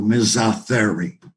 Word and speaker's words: misothery: so ms arthuri we it comes from two greek words the first syllable it means it was in misogyny which is contempt for women and etherio is the greek root word for animal t-h-e-r-i-o so mesa theory i i like i'm